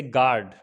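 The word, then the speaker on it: guard: silent होता है जैसे गार्ड गार्ड में यू के बाद यह वॉवेल है तो इसलिए यू क्या होगा साइलेंट हो जाएगा इसी तरीके से गिल्ट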